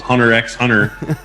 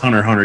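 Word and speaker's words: Hunter × Hunter: We thought it was Hunter x Hunter until the person licensing it to us said, "No, it's just Hunter Hunter. You don't pronounce the X."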